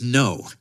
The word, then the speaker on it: Ngo: it correctly and then he just pronounced it no and and I had